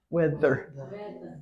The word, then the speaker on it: weather: quite no not quite so I'm hearing two different syllables that's good because there's two syllables the the that's better uh-huh wither oh that's good yeah weather weather yeah it's hard I didn't realize this was going to be that hard but yeah it's two syllables not a problem these two have to go together one sound so you can you